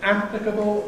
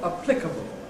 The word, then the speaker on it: applicable: ‘Stress’: green line, ‘applicable’ or ? I tend to say , but I'm clearly out of line. Most people prefer .